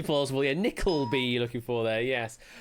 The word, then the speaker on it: Nickleby: Nicholas Nickersby. Nickersby. Phonetically plausible, yeah. Nickleby you're looking for there, yes.